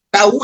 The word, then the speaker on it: Tav: Entonces, Tohu, Tau, una forma de pronunciar Tab, de hecho es como Tau. ¿Por qué? Porque la letra Tab es una THV. Entonces, Tau es una forma correcta de referirse a la letra Tav también.